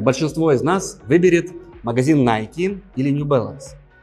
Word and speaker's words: Nike: как правильно называется найти ведь эта компания была создана филом на этом и названа в честь древнегреческих богини Победы ники поэтому более правильно произносится именно найти Куда вы пойдете магазин